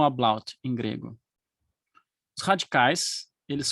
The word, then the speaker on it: Ablaut: de um fenômeno chamado ablaut, que é, em português, normalmente nós chamamos apofonia. Apofonia, ou ablaut. Aqui, pronunciando em português uma palavra que é alemã. A-B-L-A-U-T. Ablaut.